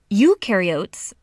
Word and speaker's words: eukaryotes: mitochondria and golgi apparatus eukaryotes the u rhymes with do they do have membrane-bound